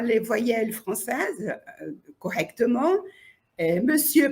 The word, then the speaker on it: monsieur: voyelles françaises correctement et Monsieur par exemple il prononce mes cier alors il n'y a pas le E monsieur il prononce pas et